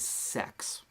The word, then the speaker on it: CeX: cryptocurrency people and financers pronounced in the same way decentralized exchange d-e-x decks they pronounce centralized Exchange c e x as sex I'm sending Bitcoin to